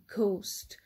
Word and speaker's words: ghost: the word ghost ghost we hear a sound of g a hard g so most of the times when gh is placed in the beginning of the word it is pronounced as heart g moving on to the